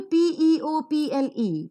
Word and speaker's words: people: Look for the next example, PEOPLE, people, people. Per sound, EO is pronounced as E, PLE is pronounced as per sound and L sound. So people.